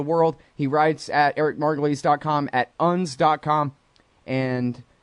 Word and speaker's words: Margolis: show first is Eric margulies Eric margulies comm is his website spell it like margolis that's how I said it wrong for the first five years I knew this guy Eric margulies at Eric